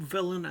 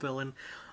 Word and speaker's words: Vylan: Because it's villain is spelled the same way, but it's got a V instead of a D at the start.